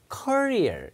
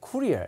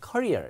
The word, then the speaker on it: courier: 이거는 이제 경력, 직업을 표현할 때 쓰는데 이 택배 같은 거는 발음이 앞에 courier 이렇게 읽어요. 액센트가 앞에 있어요. 그 영국 사람들은 약간 쿠리어에 가깝게 courier 이렇게 읽기도 합니다. 미국 사람들은 courier 이렇게 읽는데 경력 직업은 액센트가 뒤에 있습니다.